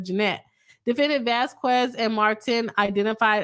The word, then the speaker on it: Jeanette: In the videos, defendant Vasquez and Martin mocked Attorney Braun by mispronouncing her name as Janet instead of Jeanette.